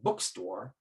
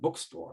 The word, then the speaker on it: bookstore: So we say bookstore with one stress on the first element bookstore.